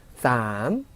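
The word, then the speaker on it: สาม: 읽으실 때는 쌈 하고 4성으로 읽으시고, 숫자 4죠.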